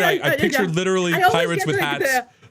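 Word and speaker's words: PyRIT: why I like cuz it's called pirate because it's like a red team like pirate That's how I remember it I I picture literally pirates with hats It's this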